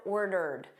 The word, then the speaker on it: ordered: I've ordered. So notice this ED here is just a soft D.